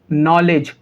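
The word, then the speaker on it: knowledge: एन से पहले के, तो जब कभी भी एन से पहले के को लिखा जाएगा तो के साइलेंट होगा। समझ पाए? इसको हम कैसे पढ़ेंगे? नी, नॉलेज, नॉट।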